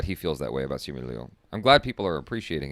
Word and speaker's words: Simu Liu: Simu Liu is how you say it.